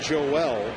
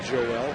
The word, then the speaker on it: Joel: He told me that Joel is the Spanish pronunciation, but he's okay with Joel or Joel.